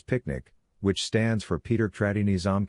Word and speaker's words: PQNK: PQNK natural ecosystem science for production agriculture to be pronounced as picnic which stands for Peterini Zam cashiari and means the regenerative and sustainable pristine organic farming system.